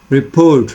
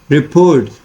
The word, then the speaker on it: report: to pronounce it like report right report so it means that the focus is on this p o r t part of the word right so the first